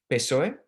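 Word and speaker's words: PSOE: parties that fall in in that category the pesoe as we pronounce it which is the the spanish socialist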